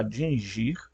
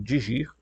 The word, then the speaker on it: dingir: propriamente o nome Deus uma das palavras era dingir tá alguns pronunciam digir certo e o outro era